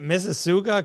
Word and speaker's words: Mississauga: do you say it, Mississauga, Canada? Mississauga. It's like Mississauga, Mississippi, but Auga at the end.